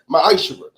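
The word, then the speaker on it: מעשר: Means 10th in Hebrew and is pronounced ma'ashra.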